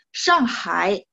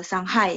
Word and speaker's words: Shanghai: enggak masalah ya shanghai cuman bacanya adalah song-song bukan siang no saya sering banget dengarnya siang bukan siang tapi sang shanghai itu shanghai ya terus cungkuo ya